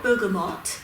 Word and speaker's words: Bergamot: It's spelled Bergamot, but the correct saying is Bergamot. It's from Italy, specifically from the town called Bergamo.